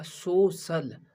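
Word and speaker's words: social: सोशल। स सी का उच्चारण हुआ सोशल, तो हम इस पे ध्यान देंगे। यहाँ किस पे? आई ए पे। सी के आगे क्या है? आई ए, तो सोशल।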